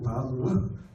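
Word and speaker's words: ו: 근데 이게 6번째 숫자 값을 갖는 바브인데 바브라고 읽어요. 바보 아니고 바브.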